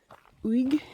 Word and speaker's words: Uig: I'm walking around in the the Fairy Glen in Wig. It's spelled UIG.